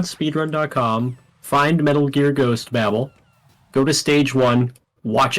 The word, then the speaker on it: Babel: agree that it's pronounced Babble I used to call it Babel not Babel I said Bagel but if you actually look at the original Japanese name for it it is pronounced Babble it's the start of